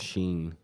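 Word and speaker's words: Shein: see what happens see who knows that is pronounced Sheen okay s-h-e-i-nounced sheen sheen my bad my bad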